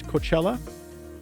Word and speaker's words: Cochella: today I'd like to introduce my guest Coachella got the last name right yes okay good